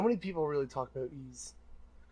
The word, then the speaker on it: Ys: Ease, it's pronounced.